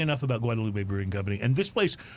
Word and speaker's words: Guadalupe: So it is Guadalupe, but if you're in Austin and you go down Guadalupe Street. Yeah, that's right. Don't pronounce it Guadalupe. They look at you weird.